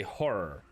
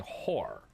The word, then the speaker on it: horror: like I'm normally talking, I say horror, which a lot of people don't. I'm very subtle on the second syllable, and so people think I'm saying whore.